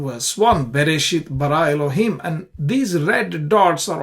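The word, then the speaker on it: אֱלֹהִים: syllable has an accent ELO he has an accent therefore you stress on it you sayit bar Elohim so that's the stress on the last syllables in all these three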